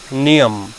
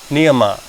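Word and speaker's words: नियम: So first is Yam. In English people call it Yama, but I will use the authentic Sanskrit terminology or authentic Sanskrit pronunciation, so you will be familiar with that as well. Yam is number 1. Second is Niyam. In English it's called Niyama.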